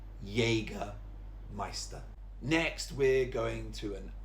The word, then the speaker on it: Jägermeister: It looks like Jaeger because it's a J, but it's actually jägermeister with a y sound. Jägermeister.